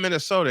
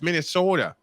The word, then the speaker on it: Minnesota: of me and say look you're saying it wrong how do I say it you're not saying Minnesota it's Minnesota what yeah you sound